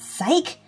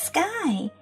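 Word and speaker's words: Skye: Her name's not Psyche, it's Sky.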